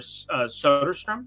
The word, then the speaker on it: Soderstrom: I mean, Blade, folks, and you've got Tyler Soderstrom. I believe that's how they told me to pronounce it.